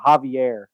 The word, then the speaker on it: Xavier: Although it is spelled Xavier, it is pronounced Xavier or Javier, I'm sorry.